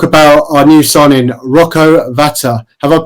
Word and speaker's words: Rocco Vata: right let's talk about our new sign in rocco Vata have I pronounced that right Connor yeah yeah yeah that's